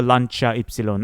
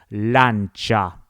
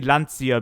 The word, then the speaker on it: Lancia: I really like the Lanchaon. Actually, that's how it's supposed to be pronounced, guys. The real Italian pronunciation of the Lanchia brand is actually Lancha. Lancha. I I used to say Lancia because that's I don't know.